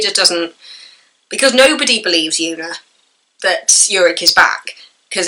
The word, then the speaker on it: Joona: it's yuck it's a it's a j it's pronounced like a y like youa anybody else who was watch these will know that I was calling him Juna for so long until